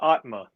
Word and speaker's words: Aatma: going to be the i guess you pronounce it atama or atma it's uh it's uh atma atma what is it